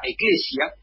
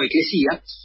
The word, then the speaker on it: Eclesía: Y se reunía una asamblea, más o menos de 6.000 personas, llamada la Eclesia, que de ahí además viene Iglesia, o Eclesía, mejor dicho, para pronunciarlo bien, acá Aristófanes me está corrigiendo, Eclesía, y incluso era un cargo prestigioso.